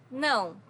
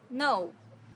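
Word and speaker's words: não: want to learn Portuguese no no so no has a very unique sound in Portuguese because it's a nasal sound no to the bank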